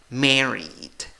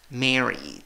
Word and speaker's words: married: La sílaba que lleva la fuerza de voz es la primera sílaba, contando de izquierda a derecha.